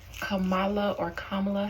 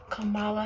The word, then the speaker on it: Kamala: Although that's not how to pronounce it. It's not Kamala. You like for it to be pronounced how your mother would pronounce it. Kamala or something like that. Kamala.